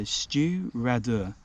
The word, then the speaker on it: Stiùireadair: But looking up, this is actually how you say it. So Stiùireadair, Stiùireadair.